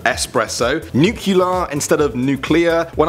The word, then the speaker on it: espresso: People still say espresso instead of espresso, nuclear instead of nuclear.